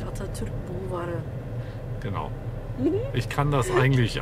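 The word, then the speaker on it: Atatürk Bulvarı: Also richtig ausgesprochen heißt es natürlich Atatürk Bulvari.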